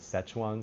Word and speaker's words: Sichuan: Szechuan sauce. That's the English pronunciation of Sichuan.